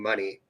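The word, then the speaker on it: Moné: money money because yeah it depends if you read it how it's spelled if you read it how it's spelled it ain't right but Mercedes money is what she's gone for yeah no I just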